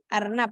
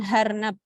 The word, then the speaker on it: arnab: Misalnya fidunya, misalnya arnab. Nah, arnab di sana tuh membacanya dengan harnab.